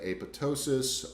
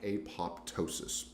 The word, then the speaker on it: apoptosis: protect itself from cancer one is called apoptosis that's one way to pronounce it I hear other people say AVA ptosis oh that's probably what I will refer to but if you're reading it there's a it looks like apoptosis and it is important